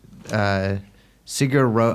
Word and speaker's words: Sigur Rós: You bought tickets to this Sigur Rós. I've never actually said it, the words out loud. How do you pronounce it?